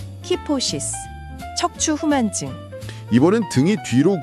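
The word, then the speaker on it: kyphosis: 같이 발음해 보겠습니다. 키포시스. 키포시스. 키포시스.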